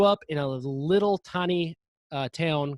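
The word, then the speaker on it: Pfafftown: But I grew up in a little tiny town called Town, which is actually spelled Pfaff, like Pfaff town. You look it up and you'll never believe how it's spelled.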